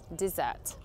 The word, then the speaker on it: dessert: Can you hear the difference? Dessert. Desert.